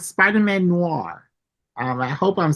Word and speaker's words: Noir: so there are tons of Spiderman like Spider-Man Noir um I hope I'm saying that right Spider-Man Noir how yeah say say it damz Noir yeah you said it right okay Noir Spiderman